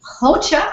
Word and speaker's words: Rocha: But I finally started to grasp that the Rocha must be Hocha or something like that, right? You say it in the throat.